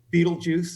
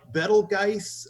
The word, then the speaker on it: Betelgeuse: I know I took Arabic and I know the G is a guttural, so it should be like sound to it if it's pronounced, because most of the stars have Arabic sounding names. But and especially since the movie Betelgeuse came out, Americans have always said Betelgeuse, and I know what